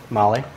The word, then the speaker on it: Mahle: So the filter that we use is Mahle. That's how you pronounce it. Mahle?